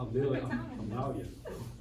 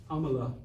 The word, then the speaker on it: Amala: All right, we're going to play y'all Amalia. All right, we'll play y'all Amalia. How do you say her name? Amala.